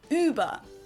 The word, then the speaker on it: Über: Now, if you added the two dots, it becomes the German word for over or above and is pronounced Über.